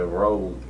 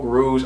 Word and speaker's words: Rouge: I want to pronounce it Rouge. I said Rogue. Rouge. I say Rouge.